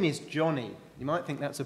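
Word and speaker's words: Joni: tell you about someone else her name is Johnny you might think that's a boy's name because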